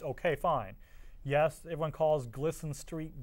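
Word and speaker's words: Glisan: I mean, G-L-I-S-A-N does not sound at all like Gleason if you were to actually try to, unless you state it in Spanish.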